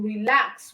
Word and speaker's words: relax: the second syllable so in relax we have LAX as the stress syllable in the side we